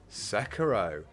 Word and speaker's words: Sekiro: Sekiro, correct pronunciation, won this year's Game Awards.